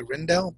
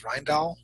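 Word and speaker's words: Rijndael: five in 1999 uh I always say the name wrong I always want to say Rendell but I think it's ryall was chosen to become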